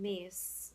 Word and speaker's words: Myss: I decided to listen to a lecture by Carolyn Myss, and that's spelled Myss.